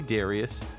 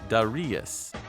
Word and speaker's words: Darius: harder to hear but it sounded like darius kind of a combination of english and japanese i seem to have